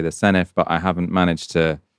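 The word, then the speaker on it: Senedd: Uh I used to say the senate, now I say the senif, but I haven't managed to properly internalize that the d is pronounced for uh in Welsh.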